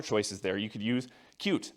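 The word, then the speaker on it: Qt: You could use cute. It's pronounced cute by the way.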